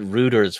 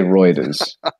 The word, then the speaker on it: Reuters: Like, out of everything else, is that you pronounced it Reuters when you just pronounced Deutsche Bank, Deutsche Bank. I meant to say Reuters.